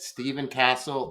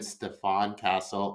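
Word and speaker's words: Stephon Castle: and you know what I said Stephen Castle it should should have been Stefan Castle I got excited about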